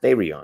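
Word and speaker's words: θηρίον: for this is because the word for beast and the greek is therion right pronounced therion because my objective is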